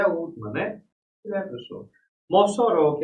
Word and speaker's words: Mossoró: Mossoró, que é a cidade em que nós estamos aqui, né, presencialmente. Mossoró, veja, a sílaba tônica é uró, é a última.